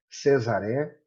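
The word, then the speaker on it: Cesare: Segunda figura, a pronúncia é cesaré, camestrés, festino e baroco.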